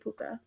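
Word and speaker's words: pooka: that's so cute and it's literally spelled like p-o-o-k-a puka oh yeah it's really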